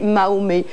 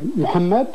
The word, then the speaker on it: Mohamed: me dérange sincèrement c'est Mahomet pourquoi pas Mohammed puisque à chaque fois on est obligé de s'adapter à la prononciation française par rapport aux Arabes dans son livre enfin par le titre moi je c'est Mohamed j'ai appelé mon livre Mohamed qui est la bonne prononciation et c'est l'éditeur pour